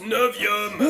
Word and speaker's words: Novium: C'est pas le, je t'ai déjà dit que ça se prononce Novium. Oui, mais en latin le U ça se dit ou parce C'est que...